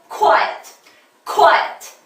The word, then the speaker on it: quiet: 네 번째는요, quiet 역시 우리 be quiet에서 콰 한 번 하는데 콰 안 되고요. 코 이렇게 하셔야 돼요. 역시 좀 힘이 들어가겠죠? quiet 이렇게 발음을 하셔야 됩니다.